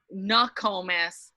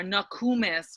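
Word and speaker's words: Nookomis: Really, Nakomis or Nakumis would be a more appropriate pronunciation. So in lay English, we sometimes throw a hard O into the word, when it really, in our language, we don't have that hard O. We have an oo, an an we don't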